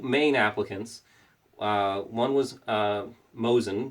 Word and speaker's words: Mosin: applicants one was a Mosin which is actually pronounced most seen and it was actually